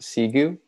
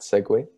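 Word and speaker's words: Segoe: recently brought to my attention that this is pronounced seu and not segue um the next one we'll have is sansi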